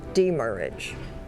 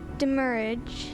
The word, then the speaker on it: demurrage: Are there any alternate pronunciations? Demurrage. What is the language of origin? It comes from a Latin-derived French word plus an English combining form. Demurrage.